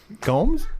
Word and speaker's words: Gomes: Now, 20 minutes into the show, Gomes. What am I saying? Gnomes? You're saying gnomes, like little garden gnomes.